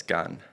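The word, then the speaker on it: Cannes: that the correct pronunce I always heard KH or K in French it's yeah it's Gan g yep do you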